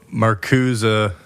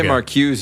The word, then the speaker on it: Marcuse: probably already know but maruza uh that is how you say it how do people say it okay Marza maruza you can say maruse if you want yeah uh I'll just